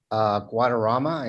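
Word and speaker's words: Guadarrama: please state your name for the record and spell it for the court reporter uh my name is jose guadarama and it's j-o-s-e guadarama is g-u-a-d e-r-r-a-m-a thank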